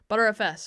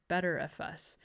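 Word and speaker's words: Btrfs: The thing about Linux is everything has like multiple pronunciations and they're all correct somehow, like butterfs or better file system or betterfs.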